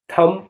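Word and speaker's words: thumb: lump माने मेमना टी एच यू एम बी थम थम माने अंगूठा ऐसे शब्दों को भी बताएंगे जिसमें सी साइलेंट होगा एस ई सी ई एस सी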